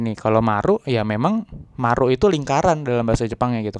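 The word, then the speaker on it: マルイ: Kalau orang enggak bisa bahasa Jepang bilangnya oi-oi gitu kan. Mall oi-oi nih gitu kan. Tapi padahal hari ini artinya adalah Marui gitu kan dibacanya Marui. Nah, Marui ini yang no o ini nih lingkaran Maru sama i gitu. Marui bacanya seperti itu ya gitu.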